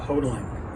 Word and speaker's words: Hodeling: My name is Hodeling. That rhymes with yodeling.